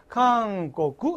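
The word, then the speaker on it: 韓国: 다 다이각세 대학생 자 한국을 보세요 강꼬꾸 강 고구지 앞에는 다 청음이 강 강하고 발음이 같은데 청음이 뒤에 나오고 탁음이 뒤에 나왔지 금은 죽어도 고라고 된 소리 바로 못해 근데 청음이 뒤에 나오면 꼬꾸 꼬꾸 청음이 두 개 나왔잖아 강꼬꾸 이렇게 해야 돼 앞에 나올 때는 제대로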